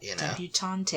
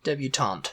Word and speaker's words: debutante: She's a debutante, she's just come out, Debutante, is that how you pronounce it? Debutante. Debutante. Debutante, Tante. Yes. That's how I say it.